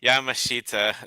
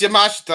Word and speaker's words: Yamashita: or Yamashita are you Yamashita there you go I thought it was yamashta I don't know apparently there's a weird pronunciation and look at this